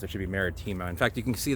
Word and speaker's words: maritima: enough to be or marítima as it actually would be pronounced in latin i called martoma and i have been